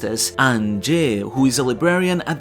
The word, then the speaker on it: Ange: Saul first mentions her earlier in the chapter but she's then fully introduced as "Ange" (pronounced as "an-jeh", who is a librarian at the Owl Library and assistant to Saul.